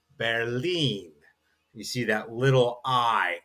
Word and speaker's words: Berlin: And then when we are doing our travel, and the capital of Germany is that we know in English as Berlin is actually pronounced auf Deutsch Berlin.